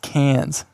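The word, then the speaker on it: Cairns: c a i r NS oh it's actually pronounced cans anyways in an Australian accent I wouldn't even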